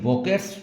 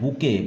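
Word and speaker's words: bouquet: There were not some वके ये वोकेट्स बोलते हैं। लेकिन बुके इसका प्रोनन्सिएशन होता है बुके। ब पर छोटा ओ की मात्रा, का पर एक मात्रा, ऑन द टेबल।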